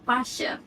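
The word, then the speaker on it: ∂: It may look like a curly d, but it actually pronounced as a partial.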